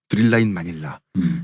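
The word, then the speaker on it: Thrilla in Manila: 이것이 드릴라인 마닐라, 스릴러인 마닐라를 흑인식으로 빨리 발음해서 드릴라인 마닐라.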